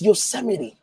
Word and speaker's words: Yosemite: don't who can't spell who can pronounce yosemite who call you send me your cell lights how i'm an immigrant bro i didn't grow up here and i know it's yosemite i would never call